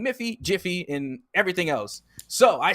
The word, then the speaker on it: Miffy: and confuse us because miffy has it in the game with an m m-i-f-f-y but it's supposed to be jiffy so now i'm confused because now we're saying miffy jiffy and everything else so